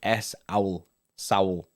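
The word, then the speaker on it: Saúl: the most simplest term like matthew just did s owl soul any official statement from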